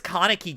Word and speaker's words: Kaneki: comments tore me apart they're like um it's kaneki you idiot how can you pronounce it wrong sorry I'm sorry I watched